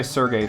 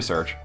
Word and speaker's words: Serge: by it and i've been calling this guy sergey for years and years and years recently found out it's actually search uh i looked it